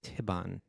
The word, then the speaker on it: Thibon: pronounced Thibon.